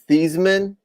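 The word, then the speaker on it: Theismann: anyone well you know his real name is thiesman and because it looks like heisman he changed it the pronunciation to be oh i'm sorry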